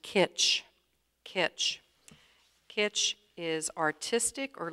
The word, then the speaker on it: kitsch: The word is pronounced kitsch.